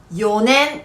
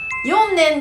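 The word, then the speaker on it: 四年: Nếu từ này đứng trước số "4" sẽ trở thành "よねん". Xin lưu ý rằng đây không phải là 「よんねん」.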